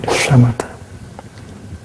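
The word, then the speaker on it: shamatha: And with this you pronounce uh like shamata.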